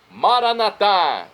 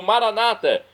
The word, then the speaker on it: Maranatá: E agora eu clamo do aramaico, Maranatá, como dizemos nós católicos, ou Maranata, como dizem nossos irmãos separados, os evangélicos ou protestantes. Não importa a pronúncia, o significado é o mesmo.